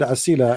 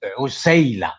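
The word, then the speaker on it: عسيلة: First, you have to learn how to pronounce the word. You pronounce the word incorrectly. Really? Okay? What is the correct pronunciation? Tell me, please. Is Usayla, not Asila. It is Usayla.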